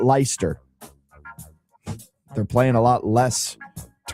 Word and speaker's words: Leicester: So it's Leicester, not Leicester.